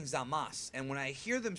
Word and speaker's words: Zamasu: sounds like they're saying Zamas. So, is it Zamas or Zamasu? Well, that's the the thing with Japanese is that a lot of those U sounds are typically very silent or just soft.